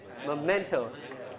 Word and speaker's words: memento: Stress is in the second syllable.